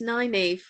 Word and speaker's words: Nineveh: Now, I looked at the name and thought, how do I pronounce that? Nineveh? Well, I wondered if it would be like Nineveh, but apparently it's Nineveh.